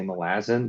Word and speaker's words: Malazan: that's why read uh I'm trying so hard to say Malazan because I don't pronounce it that way and I can't force my brain to but I know it's correct uh I figure if